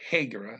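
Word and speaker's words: regra: use the rule a hegera it's r e g r a so you don't look it doesn't look like rule very much but you realize that they're saying when you hear it but they pronounce their hours as an h heger of 20 minutes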